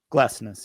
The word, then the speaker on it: Glesnes: And is it Jacob Glesnes? Glesnes, yeah.